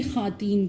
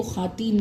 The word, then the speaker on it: خواتین: خواتین میں واو کے اوپر زبر ہے اس لیے وہ خواتین نہیں ہے, اس میں واو پروناؤنس ہوگا زبر کے ساتھ, یعنی واو جو ہے وہ مفتوح ہے, اس لفظ میں واو جو ہے وہ مفتوح ہے, اس لیے وہ خواتین نہیں ہے خواتین ہے.